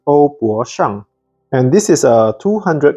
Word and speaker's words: Ouboshang: The Mandarin pronunciation should be OuBoShang.